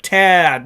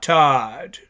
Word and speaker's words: Tad: CU head coach name is pronounced Tad, not Todd.